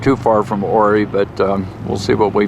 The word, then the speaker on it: Ouray: We're between Silverton, Colorado and Ouray, Colorado. That's spelled O-U-R-A-Y.